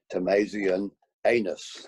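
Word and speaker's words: tommasinianus: pleased to announce that you pronounce it as crocus tamasian anus with the emphasis on the anus um we can move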